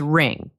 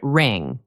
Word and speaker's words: wring: The word is wring. Be very careful with this one. It is pronounced just like the word ring, like a ring on your finger.